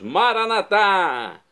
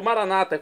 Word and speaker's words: Maranata: E agora eu clamo do aramaico, dialeto de Jesus, Maranatá. Como dizemos nós católicos, ou Maranata, como dizem nossos irmãos separados, os evangélicos ou protestantes. Não importa, a pronúncia e o significado é o mesmo.